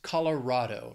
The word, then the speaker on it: Colorado: that then we have Colorado this state has four syllables the stress is on that third syllable even though it's rad it's Colorado not R Colorado the Rocky Mountains beautiful